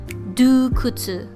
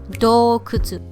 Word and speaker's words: 洞窟: Do not pronounce this as dukutsu. It should be dokutsu because the O should always be pronounced as O.